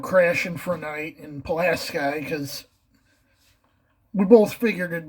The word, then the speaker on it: Pulaski: at his screen, it's Pulaski, dupa! That's just, I can assure you, you ask anyone from Pulaski how they pronounce it, they say it's Pulaski.